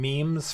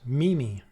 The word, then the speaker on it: meme: memes first became popular, because they only read the word meme on the internet, you know, they only read it and they never heard it, they thought it was pronounced Mimi.